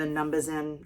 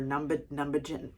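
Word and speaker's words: numbuzin: I've also been playing with the Numbazin or Numbagin, I think is how they say it, even though it has a Z.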